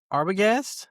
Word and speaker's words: Arbogast: I'm with Arbogast. Is that correct? How I That's it.